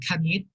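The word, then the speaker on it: คณิต: Because in Thai we pronounce it as kanit.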